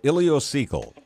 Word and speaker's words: ileocecal: to say this word a few years ago ilocal right yes sir ilio as an ilocal valve